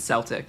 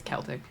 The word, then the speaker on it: Celtic: Yeah, you said Celtic. It's Celtic. Interesting. Okay. Oh, I'm used to saying Celtics like the basketball team because I talk to my sister about the basketball team a lot.